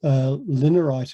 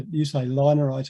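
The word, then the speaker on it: linarite: And linerite is one. Now, you say linerite, I think, Henk, but it's named after Linares in Spain. So there are things like that. Yeah, it's linerite.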